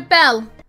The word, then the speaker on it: Belle: Shah, the name, don't you spell it Bella? No, Belle. Beauty and the Beast, Belle. B-E-L-L-E. She's not Bella, she's Belle.